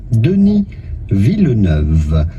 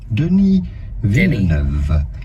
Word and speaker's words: Denis Villeneuve: Is the typical French Canadian or French pronunciation, Denis Villeneuve. Do not pronounce the S to Denis, it is silent in French. I Do got not it. say Okay. Denis, but rather Denis Villeneuve.